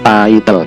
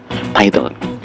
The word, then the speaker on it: title: Ya, bacanya apa? Title ya. Nggak usah dipenggal, title.